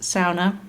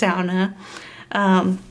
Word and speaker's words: sauna: It is a Finnish word, so it's pronounced sauna, if you want to show off in front of any Finns. But they love it when it's pronounced sauna.